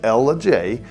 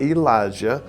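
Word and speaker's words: Ellijay: Ella itself, that's Ella J, by the way, not Elijah, like a lot of folks who call in say it.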